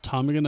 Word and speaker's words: ptarmigan: But the ptarmigan, or just ptarmigan I guess, silent P in English, set out anyway.